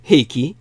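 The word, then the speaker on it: Heike: And this is one of the most famous stories of ancient Japan, the tale of the Eiki, or Heiki in the American pronunciation, the anglicization.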